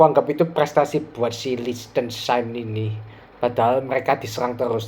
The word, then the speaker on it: Liechtenstein: Jadi Portugal bermain lawan Liechtenstein, ya itu bacanya kayak gitu.